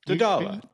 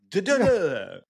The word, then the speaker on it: Doddala: Doddala. Yeah, there you go. It's like Kamala. Doddala. It's Doddala. Doddala. Same phonetics.